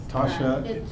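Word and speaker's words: Tosha: um TSH am I pronouncing that correctly yes Tasha that is spelled t o s h a wonderful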